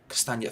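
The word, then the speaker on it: Castagne: smite uh schmeichel uh cast i can never pronounce his name yeah castanya thank you that's the one i'm gonna struggle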